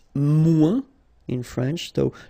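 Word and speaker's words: moins: to say less it's mu in French so no discussion about the S here don't pronounce it okay and then you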